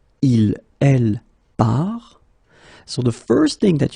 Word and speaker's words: part: So the first thing that you get to keep in mind, you get this final S, final T, but then you don't pronounce them. So phonetically, je pars, tu pars, il part, elle part.